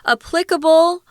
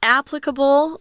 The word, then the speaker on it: applicable: a widely applicable tool applicable or applicable they're both correct pronunciations they're two there that you can choose applicable applicable applicable even